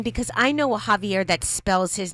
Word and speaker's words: Javier: J is pronounced with an H.